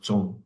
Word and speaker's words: Zong: It's pronounced Zong, like a Z.